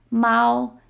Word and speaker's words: 猫: The word for cat is 猫, 猫. It sounds like the sound cats make, meow, so it's pretty easy to remember, 猫.